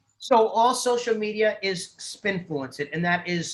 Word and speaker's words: spINFLUENCEit: of a breath but it's basically the word influence spin in the beginning and i t on the end so spin fluence it